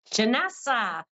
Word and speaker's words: Janessa: you thank you Kathy Janessa um rhymes with Vanessa hello Janessa hello how